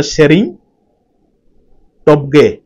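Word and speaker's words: Tshering Tobgay: শেরিং টি শেরিং টি actually টিটা উচ্চারণ হুয়ে নিও কোন তো শেরিং টপগে টপগে বুঝলে না শেরিং টপগে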